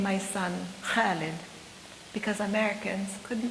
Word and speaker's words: Khalid: not name my son Khalid because Americans couldn't pronounce it. Now I wonder about such wisdom. Even my 8-year-old could constrict her throat muscles the right way to say Khalid, immortal like an ancient